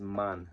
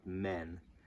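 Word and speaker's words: Mann: the reason is that Europeans hate Americans because they mispronounce everything this is man not men and the Mal is Mal not melee okay you got it good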